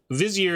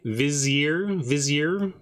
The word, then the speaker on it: vizier: Vizier. How many syllables is that word? 2 or 3? Two.